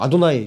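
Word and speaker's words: אֲדֹנָי: 그 뒤에는 베 에네 여호와 혹은 뭐 아도나이 그 히브리 사람들은 아도나이라고 읽죠. 여호와라고 써 있어도 여호와라고 그들은 안 읽어요. 아도나이.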